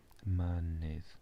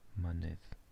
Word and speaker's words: Mynydd: way it's written, but we just pronounce it like an Mynydd, Mynydd. The double D is the sound that you get in the word for the in English, the cat.